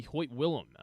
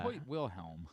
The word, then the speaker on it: Hoyt Wilhelm: Number one on the list will be Hoyt Willem. Hoyt Wilhelm. That's what I said. You said Hoyt Willem.